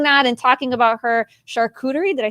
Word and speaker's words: charcuterie: going to i don't even know how to pronounce this chartreutery boards how do you say charcuterie charcuterie thank you i better learn that before she